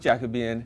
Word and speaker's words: Jacobean: Jacobine. My other favorite. Yes. I love this for 2 reasons. Yeah. But first, more history. Okay, Let's hear So- it. let's do it. Jacobean, which is pronounced Jacobean, Mm-hmm.